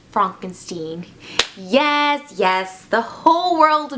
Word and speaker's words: Frankenstein: is that true Dr Frankenstein that's Frankenstein my name it's pronounced Frankenstein yes yes the whole